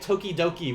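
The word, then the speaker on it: 時々: Now, Foxes, you may know this, but what if I were to read this kanji together, like toki with toki written again, how would we pronounce that? Foxes and Jesse might know. Yes. If you write two of these together, you get tokidoki, which is a word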